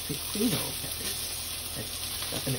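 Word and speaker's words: Biquinho: And you can see I'm just picking up the Biquihno.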